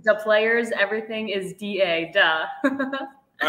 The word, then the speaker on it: Da: Some people call it the Beauty League, but it's duh. So yeah, no, lots of fun. Yeah, DA, like the rules and Fairly Odd Parents.